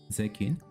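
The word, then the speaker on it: 税金: Zeikin. See, the I disappears.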